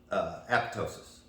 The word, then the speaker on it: apoptosis: Guys, we want to talk about something today that's extremely important, and that is apoptosis. You know, that's supposedly the proper way to say that.